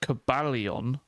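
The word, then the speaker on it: Cobalion: But Cabalion I put more uh I put more emphasis on the end of it.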